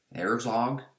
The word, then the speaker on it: Herzog: There's The Swarm by Arthur Herzog. That's how you pronounce it.